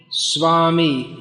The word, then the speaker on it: swami: uh what else swami swami that's usually pronounced as swami written in english s-w-a-m-i and as far as i know there are no everyone says that the this what's written as ver is pronounced more like a word so swami is quite a good pronunciation he doesn't have to